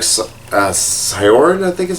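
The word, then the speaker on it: Syaoran: Like, that looks exactly like Sakura, and this looks exactly like Sioran, I think is how his name's pronounced.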